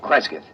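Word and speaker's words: Cresgyth: instead as um well, I'll I'll spell it. C R E S G Y T H. Kreskith. What's that, local? Well, that's his phonetic interpretation of the name the people here use.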